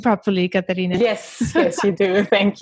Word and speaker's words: Katharina: topic which is Karina from clob am I pronouncing your name your name properly Karina yes yes you do thank you so you're